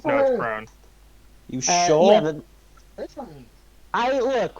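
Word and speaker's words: Krone: lady who comes in, Krona. Crone. Is it not Krona? No, it's Crone.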